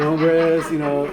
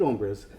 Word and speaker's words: hombres: And maybe if you look at the social fabric, maybe just think about fabric and just think of good hombres, the H is silent, so maybe someone has to let Trump know that the H is silent.